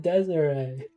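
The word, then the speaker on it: Desirée: Desiree.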